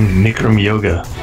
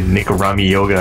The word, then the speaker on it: Nikram Yoga: By the way, hats off for properly saying Nikram Yoga. Oh, yeah. So many times during the draft, I heard people say Nikrami Yoga or something. And, oh, no, it just rhymes with Bikram, your classic exactly.